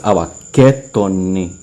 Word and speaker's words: ABAKETONE: It's ABAKETONE. Like it sounds like a I at the end, or a double E in English. ABAKETONEBORIKEJ. That's how you say it.